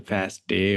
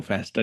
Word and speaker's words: FASTA: are aware right now, the FASTA or FASTA, different people pronounce it differently.